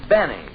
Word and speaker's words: Benny: doctor no this is Jack Benny rhymes with Penny if he can arrange